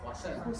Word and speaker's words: Poussin: pueden ubicar, es la dedicada a ¿cómo se pronuncia? Poussin.